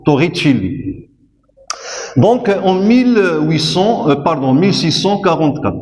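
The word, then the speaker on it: Torricelli: se pronce ainsi s'écrit ainsi mais il se prononce Tor Chili donc en 1800 pardon 1644 il a fait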